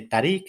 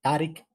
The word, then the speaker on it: Táriq: Rodrigo está muy bien No tampoco pronuncio yo correctamente tarik es tarik y tampoco lo hago bien porque hay que alargar mucho la a y yo no sé